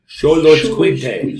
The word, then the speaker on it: Xoloitzcuintle: The X at the beginning is to be pronounced like CH. Xo, Lloyds, Quintle, Xoloitzcuintle.